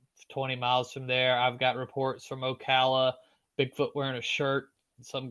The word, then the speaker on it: Ocala: Everybody says Ocala, and it's like no. Ocala.